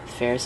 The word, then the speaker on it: Ferris: Ferris, like Ferris Bueller, rhymes with Paris.